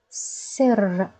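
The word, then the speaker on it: سر: in Arabic and means we will put stress on this letter we will pronounce it doubled two times so let's give it a try sir we pronounce raw two times sir okay Ser means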